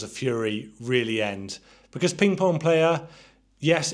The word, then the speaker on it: Ping Pong Playa: Also released in 2007 was Ping Pong Playa. And you actually have to say it like that because that's how it's spelt.